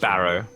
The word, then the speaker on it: Barro: thing i' I'd always Barrow so bar wheel barrow it's spelled like wheel barrow but without wheel So it's b a